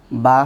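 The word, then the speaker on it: ب: বা হরফটি উচ্চারণ হয়, আমাদের ঠোঁটের মধ্যে দুইটি অংশ আছে। বাহির পাশের যে অংশটি এটি হলো শুকনো, আর ভিতর পাশের অংশটি হলো ভেজা। এই ভেজা বা আর্দ্র অংশ থেকে বা উচ্চারণ হয়।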